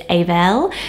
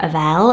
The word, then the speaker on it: Abel: kind of similar to Abel which we hear Biblical name but it's aval so really nice so I